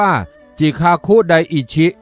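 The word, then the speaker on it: 慈覚大師: ชม เชย อาตมา หยวนหยวน ซึ่ง เป็น ภาษา ญี่ปุ่น ออก เสียง ว่า จิคาคุไดอิ ชิ เป็น พระ สงฆ์ วัด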